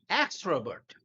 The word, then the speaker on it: extrovert: 그래서요 i와 다르게 요게 e의 발음이 이게 좀 그런 경향성이 있기 때문에 어 아까 introvert introvert 이러는데 여기서는 extrovert 발음이 여기 제1음절에 있죠.